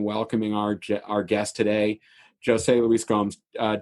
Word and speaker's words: José: I'm slowly educating Americans that the Portuguese pronounce Jose with a hard J, not a not a soft J.